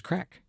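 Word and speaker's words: craic: from your dialect, there's crack. Um, there's there's good crack. There's good crack. I want to just make very clear that that is spelled C R A I C and in no other way.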